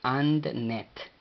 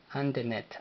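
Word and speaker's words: አንድነት: Y luego N, E. Y finalizando con T, sin pronunciar vocal. Así es de que AndNet. AndNet, AndNet.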